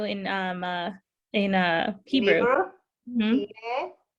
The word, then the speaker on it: תהיה: תהיה עצמך.